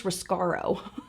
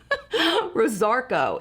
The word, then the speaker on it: Rosarco: I always call this Roscaro. Rosarco is how this is pronounced, I believe.